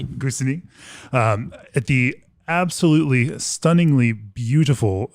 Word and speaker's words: Gussignies: Did I pronounce that correctly? Yes, that's it. Gussignies. Okay. Gussignies.